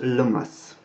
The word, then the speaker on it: Lammas: Donc Lammas, ça se prononce Lomas, tout simplement, en anglais moderne.